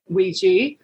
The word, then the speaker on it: Ouija: from because it's a very strange word it's pronounced Ouija but it's spelled kind of Ouija or WIA